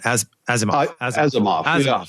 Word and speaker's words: Asimov: like Elon Musk, if you're shaped by Isaac Asimov, how you say it? Asimov.